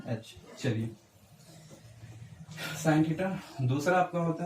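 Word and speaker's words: sin θ: साइन theta. और इसको कभी भी साइन इंटू थीटा नहीं पढ़ना है, ये गलत है, ये प्रोनाउंसिएशन गलत है, क्योंकि ये साइन थीटा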